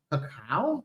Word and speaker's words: cacao: Cacao?